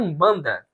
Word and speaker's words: Umbanda: escreve daqui para cá esse U é um acréscimo que nós fazemos por conta da pronúncia é uma pronúncia meio fechada que os bos falava que era uma pronúncia que às vezes os portugueses entendiam como um ou como em banda Então são dois nomes